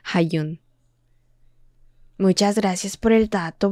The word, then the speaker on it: Hajun: En japonés los kanji se pronuncian como Hayun.